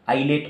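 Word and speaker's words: islet: ये इसको मैंने बताया आइलेट ऑफ लैंगरहैंस, इसका स्पेलिंग एक्चुअली ऐसा है, इजलेट, आइलेट ऑफ लैंगरहैंस, ठीक है।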